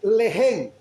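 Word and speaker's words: לחם: Entonces hay una palabra en hebreo que se escribe lehen, lehen, L-E-G-E-N, lehen, que quiere decir pan o alimento.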